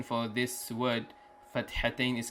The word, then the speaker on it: fathatain: In fathatain there is a ha, so they have to pronounce it correctly. It's ideally to teach them in a correct way.